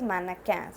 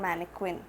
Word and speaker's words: mannequin: thing so mannequin okay it's probably pronounced as mannequins not manic quinn it's mannequin in english mannequin in french so mannequin means a